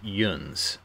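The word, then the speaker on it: yuns: or Midwestern Pennsylvania uh they tend to pronounce it Yun so like y u NS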